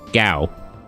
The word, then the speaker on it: Gao: Gao or Gao? Gao. Like, the SFX for, like a lion roaring in Japanese.